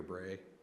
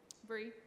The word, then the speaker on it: Bree: Ross Hillary, Jonah Butler, is it Bree or Bray? Bree. Bree King, Tyler Folk, and Sydney Granlund.